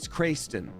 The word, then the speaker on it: Craigston: Craigson is funnier because it could be pronounced Creighton or Crayston or something like that. But it's like, it's very clearly written Craigston. Like, your name is Craig Craigston? No, it's Crayston.